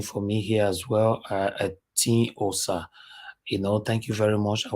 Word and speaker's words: Etiosa: That is the way they normally write it, but our pronunciation is Etiosa.